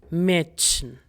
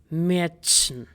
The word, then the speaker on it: Mädchen: For A umlauts, let's take the German word for girl, which is Mädchen. Mädchen.